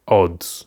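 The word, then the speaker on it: Adz: song in Age of Odds I think is how he wants it pronounced. Okay. Um age of this is the age of odds. Odds somewhere in the middle almost like a U.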